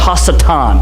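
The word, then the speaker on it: השטן: Adversary in Hebrew is pronounced hasatan.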